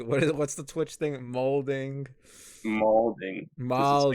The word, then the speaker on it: malding: He's molding. What's the Twitch thing? Molding. Malding. 'Cause it's like- Malding. yeah, it's pronounced like balding because malding is mad balding.